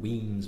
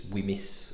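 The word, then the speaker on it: Wemyss: from a company called weams malt um now it's spelled like this we m y SS so you might think it's whimis or whis or something like that um weams is actually galic for caves and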